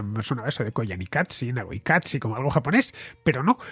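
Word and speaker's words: Naqoyqatsi: Y la tercera, Nagoikatsi, Nagoikatsi, pero el Nagoi, la I es Y, no hay latina.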